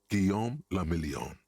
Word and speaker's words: Guillaume Lamillion: Guillaume Lamillion. What a fucking tacky name. If it doesn't rhyme, you're not pronouncing it right.